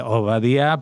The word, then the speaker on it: Ovadiah: Y ese nombre es el nombre que en hebreo se pronuncia eh Obadía, pero en digamos en